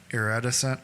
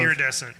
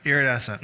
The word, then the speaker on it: iridescent: song we did was er eretta sent i think that's how you say it irradiscent it's awesome iridescent iridescent thank you um it's off of